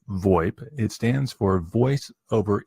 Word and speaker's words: VoIP: VoIP so the IP VoIP is commonly pronounced void it stands for voice